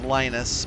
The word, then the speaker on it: Linus: came up with Linux some people call them Linus I believe the proper pronunciation is Linus but that could be a proper American pronunciation is probably what it is but he said something